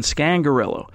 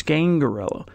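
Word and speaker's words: Scangarello: the correct pronunciation because we were all saying scan gorilla but he pronounces its Kaingaroa and then to even complicate matters more he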